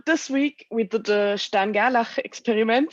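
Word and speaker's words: Stern–Gerlach: week we did the stan gala experiment so you see i pronounced it like german way which was an experiment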